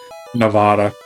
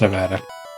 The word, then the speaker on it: Nevada: be Nevada dark Nevada sorry I say it like that Nevada I think it's Nevada n Massachusetts Main would be